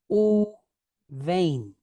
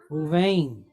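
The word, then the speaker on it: וּבֵין: Uvain. Uvain. Let me see. You could say double O apostrophe V-E-Y-N. Uvain.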